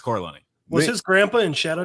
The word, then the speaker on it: Corleone: Cordelone. Nick Cordelone. Nick Cordelone. Oh yeah, it's Corleone.